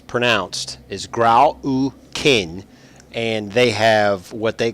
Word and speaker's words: Grau U'Kihn: and the way it's uh the way it's pronounced anounced is grow kin and they have what they call uh Predator